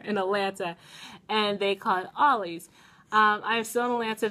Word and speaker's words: Ollie's: haul video at a store called oh I pronounce it always but they've been correcting me down here in Atlanta and they caught Ollie's um I still don't answer visiting family and